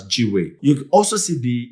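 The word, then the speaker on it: gwei: The calculation is as shown on the screen, and that would amount to 252,000 GUE, which can be pronounced as GWE.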